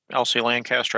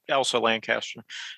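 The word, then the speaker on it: Elsa Lanchester: Now, as far as the acting, so again, Elsie Lancaster. I know I'm getting her name wrong. Yeah, Elsa Lancaster.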